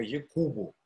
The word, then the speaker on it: Якуб: Ну, правильно, мне кажется, ударение стать «Письма Якубу». Все-таки он сидит, этот пугай, в Стамбуле, и вот по-турецки, по-мусульмански они зовут Иакова Якуб.